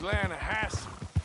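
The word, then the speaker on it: Lannahechee: steelhead trout you made an Atlanta hashey River runs right near here yeah for this pronounced Lana Hass why is everything in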